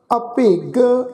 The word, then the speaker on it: अभिग: किरपन कठोर, कई कोट अभिग आत्म निकोर। हुण सत्संग इत्थे भी ख्याल रखो, ये जिहड़ा शब्द आ ऐड़ा पब्बे नूं सिहारी गग्गा अखर, सत्संग इस शब्द का उच्चारण करांगे अदक दे नाल अभिग।